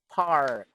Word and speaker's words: park: it comes to parks sometimes most of us Asians whether Vietnamese Chinese Filipino even wheat sometimes pronounced or miss the letter R the letter R but here in this case we're going to dissect it Park so there was an are are par again Park just sorry alright next